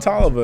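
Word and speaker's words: Toliver: with big sean and don oliver guys don talva is here to stay let me just say it like this don tolova is here to say and um yeah big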